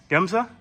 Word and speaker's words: Gemza: We are here in North Carolina at Gemza. Is that how you pronounce it?